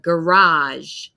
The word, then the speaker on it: garage: We often see if a word comes from French, it will have the French stress at the end of the syllable, garage, garage. And then a lot of British English speakers say garage. So it's a different sound. I say we can see and they say ah, so garage, garage.